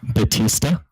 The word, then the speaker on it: Bautista: Because It's pronounced Batista.